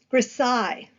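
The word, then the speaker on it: grisaille: white Chalk in it grasai so yes it has a weird pronunciation precise from the French so you would produce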